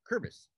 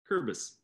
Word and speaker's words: Kuerbis: Kuerbis. Close. The one of the vowels is silent, so you can drop the U or drop the E. Kuerbis. Kuerbis.